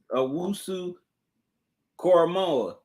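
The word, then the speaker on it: Owusu-Koramoah: Jeremiah Wusu Cormora.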